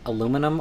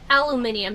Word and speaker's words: aluminium: saying that impression so do you think it should be pronounced aluminum or aluminium aluminium because that's what was agreed upon Americans